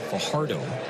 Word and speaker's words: Fajardo: Excuse me, been mispronouncing that name today. Fajardo is the correct way to pronounce Yoener's last name.